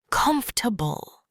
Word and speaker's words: comfortable: Another tricky word is comfortable. Don't say all the syllables. Native speakers say comfortable.